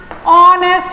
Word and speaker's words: honest: Again, an honest man, an honest man. Okay. Again, we do not say honest, we always say honest. Okay. Again, in honest, H is silent, so we cross H.